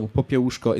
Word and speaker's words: Popiełuszko: out a little bit, the last name of Father Popiełuszko is just the same as Kościuszko, or our great composer Moniuszko. So whenever you have a little bit of a difficulty pronouncing these last names, well, these are quite common suffixes to Polish last names. So Popiełuszko is almost exactly as Kościuszko.